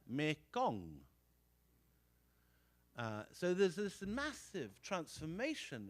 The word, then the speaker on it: Mekong: And down the middle of Southeast Asia, the main river is renamed Ma Ganga, or as it is pronounced in Khmer, Mekong.